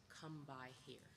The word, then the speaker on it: kumbaya: This fin phonetic spelling kumbaya represents a dialect that is often mispronounced and misunderstood. So we honor the Gulla people and we sing this song with the words come by here.